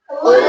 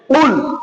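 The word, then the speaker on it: قُلْ: বিসমিল্লাহির রাহিম কুল ইয়া আইয়ুহাল কাফিরুন কুল ইয়া সুন্দর করে উচ্চারণটা বড় কথা উচ্চারণটা কেমনে হবে কুল বলেন কিভাবে কুল গলার মাঝখান থেকে একটু চাপ দিয়ে একটু ঘুরিয়ে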